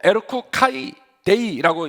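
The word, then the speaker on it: ἔρχου καὶ ἴδε: 헬러말로 에르쿠카이데이라고 읽는데요. 에르쿠 카이데이.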